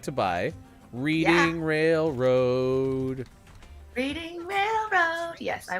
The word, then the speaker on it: Reading: i want to know this place is pronounced reading by the way if this is the